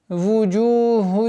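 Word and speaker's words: وجوه: Вуджуху яумаидин хашиа. Вуджу. Ву. Губы немножко вперед, трубкообразной форме. Вуджу. Вуджуху. Удлинение в размере двух огласовок даммы.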